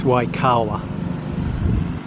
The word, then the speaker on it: Waikawa: Yeah, I think I mispronounced it earlier, it's Waikawa.